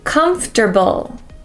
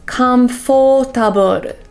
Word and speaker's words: comfortable: months of the year number three three is comfortable a common mistake is saying comforable so many people make the o sound too